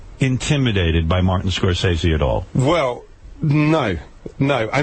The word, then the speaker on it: Scorsese: I love Matin Scorsese is, or however you pronounce his name. Scorsese.